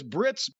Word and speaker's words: Britt: So Saraya says Britt's name rhymes with shit, but they bleeped that one too.